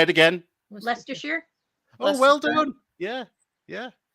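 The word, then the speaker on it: Leicester: how you say it oh say it again leester oh well done yeah yeah I was really patronizing that was it oh well doneer yeah yeah yeah Lester and lerer yeah okay I like how you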